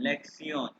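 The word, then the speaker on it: Lektion: लेक्सियन। या लेक्सियोन, ये TION सियोन, लेक्सियोन, लेक्सियोन।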